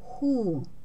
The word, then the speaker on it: who: Если после этого сочетания идет буква O, то оно читается как H. Например, who.